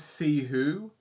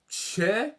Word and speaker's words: Ceh: For your information, mate, it's See Who, but you can call me if you prefer.